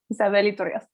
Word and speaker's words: Isabel Rios: And today I pronounced it in Spanish, Isabel Rios.